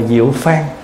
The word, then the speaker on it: diệu phương: Nhưng mà thay vì chúng ta nói diệu phương thì nó không cùng một cái vận với ở trên, cho nên là đọc là diệu phan.